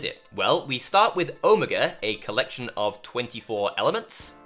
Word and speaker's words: Omega: and yes that's how many of us Brits pronounce it Omega now s live 824 is a collection of